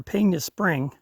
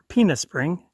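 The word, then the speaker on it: Pena Spring: the turn off for penis spring peanut spring depending on whether you pronounce it in english or spanish and i took the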